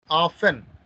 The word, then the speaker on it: often: Often. T is silent.